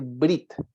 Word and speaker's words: brit: ya lo comenté recién es brit esa e casi ni pronunciada en el hebreo Es como decir brit ya Generalmente traducido como pacto